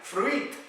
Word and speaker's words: fruit: In English, it's not fruit, es que me dicen fruit. Claro, como que tiene una I latina ahí. Fruit. No. Fruit. Listen. Fruit.